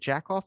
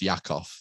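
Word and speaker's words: Jakob: that's what it is is it jackoff disease yeah well it's pronounced it's pronounced yakov yeah yakov off diseases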